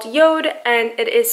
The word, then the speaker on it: Jord: Even though the watch is pronounced Yord on the face of the watch, it says J-O-R-D, so I think that's